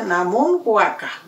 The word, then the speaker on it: namun huaca: En el día de hoy vamos a presentar toda esta hierba que tengo, la pate vaca, namun huaca piñey, mapudungun se pronuncia namun huaca, ¿ya?